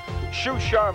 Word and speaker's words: Xuxa: start with my name a name that's pronounced sha even with its unlikely spelling xxxa may become very familiar very soon the privileged daughter of a retired military Honcho shusa manigal was scored for